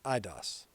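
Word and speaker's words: εἶδος: Pronounced eidos, meaning visible form, outward, appearance, what is seen externally.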